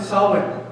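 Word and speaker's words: Samhain: what started with a celebration called and you pronounce it solid I know it's spelled with the end but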